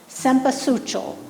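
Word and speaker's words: Cempasúchil: Mexico, and they have a very difficult to pronounce name, Cempasuchil, which isn't Spanish, it's indigenous.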